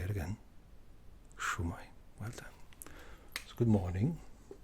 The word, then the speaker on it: Shwmae: Shumai. Say it again. Shai.